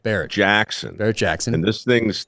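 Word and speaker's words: Barrett-Jackson: it the is it how do you say Barnett is that how you say the auction it's Barrett Barrett Jackson Barrett Jackson and this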